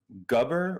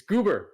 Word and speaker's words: Goober: So Galvatron is going to be played by Detective Red, Gubber, or is that how you say it? Vive and Rex Buir? It's Goober. Sorry.